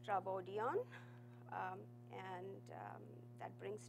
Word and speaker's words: Trafodion: for you guys um trodan stands for transactions in Welch and it's pronounced as trodon um and um that